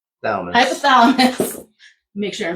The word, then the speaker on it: hypothalamus: And it your adrenal glands send out the freaking soldiers, which is the cortisol to send a message back to the hypotheus. Hypothalamus.